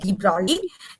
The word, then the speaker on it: de Broglie: Now, according to de Broglie, actually it is written de Broglie, G is there, but it's pronounced as de Broglie.